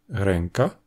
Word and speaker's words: ręka: C'est ce que l'on a en polonais, devant les consonnes occlusives et affriquées, avec des mots comme "kąt", le coin, "krąg", le cercle, "ręka", la main ou "pięć", cinq.